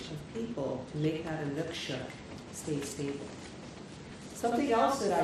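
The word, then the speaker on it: inukshuk: lot with anukshuks, and there's two different pronunciations for anukshuk. Sometimes it's suk, sometimes it's shuk, so it just kind of depends, I think. But I think anukshuk is actually the right pronunciation.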